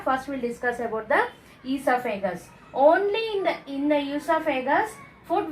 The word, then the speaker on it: esophagus: So, this differentiated tube, this is called esophagus. O is silent. Esophagus.